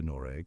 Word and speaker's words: Noreg: the west and south nor takes on a softer almost vowel-like quality transforming into noreg with the GG barely audible like a whisper carried by the wind